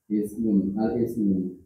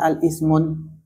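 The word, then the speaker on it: الاسم: Boleh nggak? Alif lam ketemu Iya. Kalau gini bacanya apa Pak? Ismun. Kalau dikasih alif lam al-ismun. Al-ismun. Gini. Semua alif lam dengan tanwin ini musuhan.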